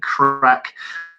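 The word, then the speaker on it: craic: They're called White Walkers Chat and Crack. Guys in South Africa, crack is spelled C-R-A-I-C.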